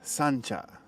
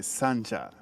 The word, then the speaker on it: Sancha: You gotta know, Sangenjai is Sancha. You gotta say Sancha. That's how you say it. That's how the locals say it. Sancha.